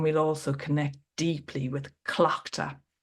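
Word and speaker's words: Tlachtga: We will celebrate around the fire, and we'll also connect deeply with Clochta. So that is TL, but it's pronounced like a C-L, Clochta.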